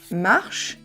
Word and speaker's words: marches: Donc, je marche, tu marches, I-S-N. Of course, the S is silent.